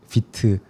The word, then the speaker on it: Vite: 어 이제 프론트엔드 개발할 때 요즘에 많이 쓰이는 도구가 비트 어 혹은 화이트라고도 잘못 발음되는 아무튼 그 툴이 있는데 그 툴이 이제 플러그인들이 굉장히 많고 그 플러그인 어 생태계가 엄청 크거든요.